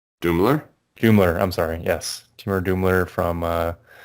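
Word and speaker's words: Doumler: I'm not sure how to pronounce his last name. Is it Dukla? Doomler? Doomler.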